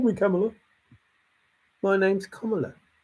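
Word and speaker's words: Kamala: the videos where they chant her name it's camela she never once went oh you got call me camela my name's KLA it's these other people that are like oh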